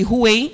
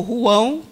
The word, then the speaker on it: Rouen: A cidade de Rouen, ou Rouen, na pronúncia portuguesa, era uma cidade de muita importância para a França.